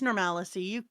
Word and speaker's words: normalcy: I I've never heard normalcy pronounced with an extra syllable, and when I'm thinking about it, I think that is linguistically the way that would make more sense in English to make it, but I still think you have added a syllable for fun there. No, it's normalcy.